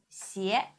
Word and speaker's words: 鞋: 鞋 xi ye with the second tongue, 也 xi ye 鞋 xi ye 鞋 Please repeat.